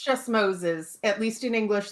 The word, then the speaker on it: Moses': At least in English, the apostrophe is after the S, indicating the possessive without adding an extra S, because it just sounds... But pronouncing, you don't pronounce an extra sound.